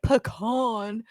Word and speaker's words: pecan: let me change that pecan is how they say it pecan they they do have a listed second pronunciation as pecan but i go i